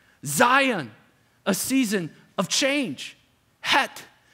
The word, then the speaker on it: Het: Het, or hek is actually how you say it, a season of anxiety.